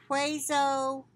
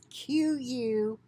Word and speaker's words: queso: maryland new york and virginia potentially linked to quaso fresco cheese products i hope i'm pronouncing that right it's q-u-e-s-o quiso queso whatever fresco cheese products from the brand